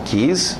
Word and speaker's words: keys: Não, keys, na pronúncia, se você falar inglês, keys, chaves, ele vai me dar chaves?